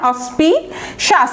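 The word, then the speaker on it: inauspicious: তাহলে ইন অসপিশিয়াস উচ্চারণটা দেখেন, অসপিশাস। এই দেখেন এখানেও CIOUS, ওইখানেও যেরকম মিনেশাস, এখানেও তালব্য স আকার দন্তা স, এরকম হবে উচ্চারণটা, অসপিশিয়াস।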